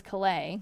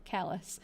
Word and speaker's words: Calais: You lived it's pronounced Callus, right? I always thought in the beginning that it was Calais because I thought that was how it would be pronounced in the French way, but Callus.